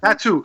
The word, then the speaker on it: Tatu: Tattoo, like tattoo, Tattoo.